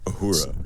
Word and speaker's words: Uhura: time, they were like, give it a feminine sound at the end. Uhura. So they changed it to Uhura, but it's Swahili for freedom, and so that's why